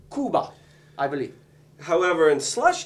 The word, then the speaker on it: Cuba: Jr yeah I believe it looks like Cuba but he pronounces it Kuba I believe however in